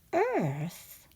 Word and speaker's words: earth: And we can see that earth looks a bit like ear with a th sound at the end.